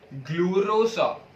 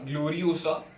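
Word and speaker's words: Gloriosa: SSC book में दिया है ग्लोरोसा, ग्लोरोसा, ग्लोरियोसा, स्पेलिंग शायद से करेक्ट नहीं है लेकिन ग्लोरियोसा है कुछ तो प्रोटोगाइनी का ही है बेटा।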